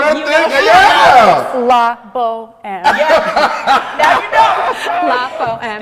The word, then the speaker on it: La Bohème: How do you pronounce it? La Bohème.